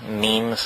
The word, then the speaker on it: meme: know what means our memes are the smallest units of a concept and they're like jeans the word is deliberately constructed to rip to rhyme with gene and so when I